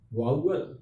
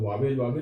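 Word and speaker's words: vowel: पहला है वाउवल. हम लोग वावेल कहते हैं, आदत हो जाता है. वाउवल, इसका उच्चारण.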